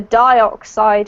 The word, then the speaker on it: dioxide: And then whenever you have a dioxide or an oxide, it's always with an I sound, okay?